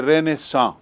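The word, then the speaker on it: Renaissance: इसको अंग्रेजी में रेनेसा भी कहते हैं। रेनेसा आर ई एन ए I double S ए एन सी ई उच्चारण देखिए रेनेसा रेनेसा मतलब पुनर्जागरण जैसा हिंदी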